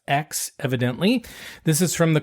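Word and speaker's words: Aix: the X Rosé it's a iix but it's pronounced X evidently this is from the kodex and provance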